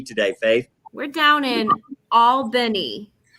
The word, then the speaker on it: Albany: going to be today faith we're down in albany correct that's the correct pronunciation yeah that's that yeah that's right uh